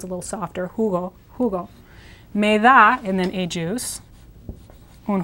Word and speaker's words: me da: So you have to say something more like me da. Now this is pronounced similar to the word may, but shorter E sound. And the D is like the TH of brother. So these two words, me da, literally mean to me you give.